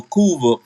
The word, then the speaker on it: Cuba: castro reclaimed power over kuva for the kuvin people notice how i pronounced that you know in spanish the b actually has a v sound for the kuving people